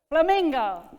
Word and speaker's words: flamingo: word is gonna be flamingo okay how many syllables very good where's the main stress ming is that one two or three two so in your group